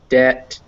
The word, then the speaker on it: debt: us from french and in french they don't pronounce the uh they don't pronounce the b so that's the real thing is that words like debt or subtle uh those